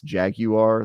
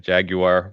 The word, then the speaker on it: jaguar: than I do cuz you make it what two syllables instead of three right it's just easier jaguar versus Jaguar yeah no I get